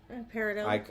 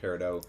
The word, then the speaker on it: peridot: Peridot. I pronounce it peridot. So do I've heard people pronounce it peridot, and I'm like, what the fuck are you talking about?